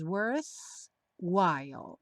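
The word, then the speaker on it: worthwhile: dois ataques is worth algumas pessoas TM dificuldade em pronunciar essa palavra pratique falando um pouquinho mais lento como se fossem duas palavras worth while worth SM smile também junta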